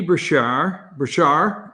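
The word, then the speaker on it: Beshear: All right, so this being said, number 21, Andy Brashar, that's what I'm hearing pronounced, okay, neither here nor there, 49, Matt Bevin, but then the Libertarian.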